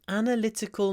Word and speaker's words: analytical: um she has an analytical mind analytical third syllable analytical with a Y of course analytical okay next word I'll